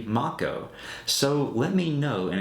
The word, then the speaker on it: Mako: pronounced the lifestream of the planet as Mako energy but found out many years later that it's actually Mach Oh so let me know